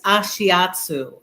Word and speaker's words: Ashiatsu: I know I pronounced it No, wrong. it's Ashiatsu, and Ashiatsu is the name for it's actually really like stretching.